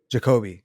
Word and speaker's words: Jacoby: Jacoby, yes.